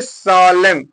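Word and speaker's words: solemn: तो अब क्या पढ़ेंगे इसको एन को गायब कर दिया तो क्या पढ़ेंगे सालम क्या पढ़ेंगे सालम पढ़ेंगे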